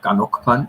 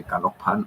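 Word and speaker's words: ขนมปัง: Kanokpan for bread, and sometimes in the supermarket, I would say kanokpan, and they're looking at me. Kanokpan, kanokpan. So it's got a little tones and all.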